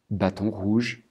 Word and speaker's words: Bâton Rouge: dans les pays francophones on va les prononcer bien sûr à la française c'est-à-dire Saint-Louis D3 Bâton Rouge et nouvelorléand ici en